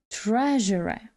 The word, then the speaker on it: treasure: давайте поглянемо на транскрипцію наголос на першому складі Tre treasure це слово означає скарбник